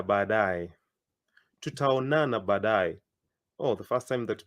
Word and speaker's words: tutaonana: I like splitting it into two. Tuta onana, but you say it quicker.